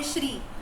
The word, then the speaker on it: Sri: you are saying SRI they write it that way like my own brother's name is Sri Hari right when we pronounce we say Shri but when he's righteous spelling it is Sri that is because now